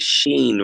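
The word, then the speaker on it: Shein: they're I ordered from I think it's you pronounced it Sheen right yes dude they're they're like these really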